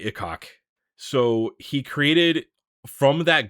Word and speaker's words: Ikok: Yeah, it sounds a little dirty though, but Ikok.